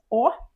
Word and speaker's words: Å: This is Å. So simple, just Å.